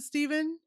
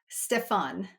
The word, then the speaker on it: Stefan: Do you pronounce it Stephen? Stefan. Stefan. I'm like I'm wondering there's like an F in there. Okay.